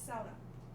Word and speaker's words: sauna: be pronounced that way because it's a swedish word and with the sweetest product swedish pronunciation it's sauna it's not my last name